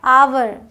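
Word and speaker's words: hour: फर्क यह क्या है आवर इसे हावर नहीं पढ़ना आवर इसे हेयर नहीं पढ़ना एयर ओके अब है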